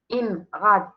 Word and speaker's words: IMRAD: IMRAD, puisqu'on le prononce bien sûr d'un seul coup, c'est un acronyme.